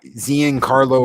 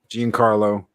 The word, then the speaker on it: Giancarlo: him yeah yeah so zian Carlo Esposito as um Jean Carlo or something like yeah yeah yes there you go Esposito as Professor X